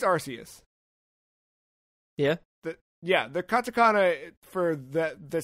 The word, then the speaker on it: Arceus: I think it's Arceus. Yeah? The Katakana for the same announcement... Like, it is not a K sound. It's a S sound. So I think it's Arceus.